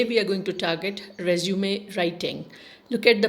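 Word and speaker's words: résumé: It is resume and not resume. Resume means it's an English word which means to stop and start again. Whereas resume, look at the pronunciation, it's nasal pronunciation. It means it's a French term which means summary of one's achievements.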